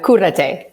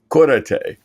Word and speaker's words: Cúrate: So pronounce it for me. It's Cúrate. Cúrate.